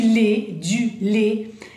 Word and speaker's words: lait: Du lait, alors, en leche sería, ¿verdad? Pero eso no importa, importante es el sonido AI. Le, le, por ejemplo, du chocolat au lait, le, bien, acuérdense, le.